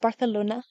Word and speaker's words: Barcelona: you get that one friend who just came back from a missions trip, It's pronounced Barcelona.